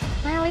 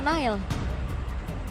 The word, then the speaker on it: Nael: konten dari Alter Ego, Nael itu dibacanya Nanael. Iya, Nanael. Nanael. Iya, kalau misalkan sama anak-anak pas lagi nongkrong juga manggilnya Nanael. Nanael. Iya, Nanael. Jadi kayak N-nya tuh 2 gitu.